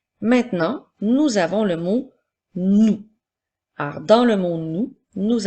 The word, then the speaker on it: nous: nous avons le mot nous alors dans le monde nous avons le son qui s'écrit avec la lettre N et le son ou s'écrit avec trois lettres dont une lettre muette le son ou c'est